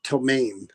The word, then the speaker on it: ptomaine: They said it's pronounced ptomaine.